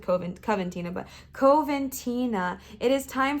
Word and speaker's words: Coventina: I have a book now that tells me exactly how to say her name. Let me look at that real quick. Coventina. Cool, I said it right. Coventina.